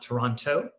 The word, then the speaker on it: Toronto: toronto um he and it's pronounced toronto not toronto uh if you're from there and so uh glad